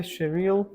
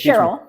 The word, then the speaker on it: Cheryl: pronounce your name correctly Sher good enough good enough how how it should be it's Cheryl Cheryl yes okay but it's hard for anybody other than English speakers to pronounce those letters at the end yeah so if there's